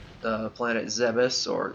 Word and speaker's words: Zebes: Um, but I believe it follows right after, like, the planet Zebes, or Zebes, as I like to call it, more of the Greek over Latin pronunciation of it.